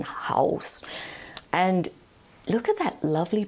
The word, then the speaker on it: Haus: It's called Haus Labs, not like house, it's spelled like German, Haus.